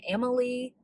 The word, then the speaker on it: Amalie: I am currently reading Never Met a Duke Like You, and it is by Amalie Howard. I know I'm saying her name wrong. Amalie, it's Amalie Howard.